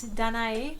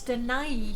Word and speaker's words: Danae: Well, in my head, it's Danae because French, but I found out that it's Danae in Greek.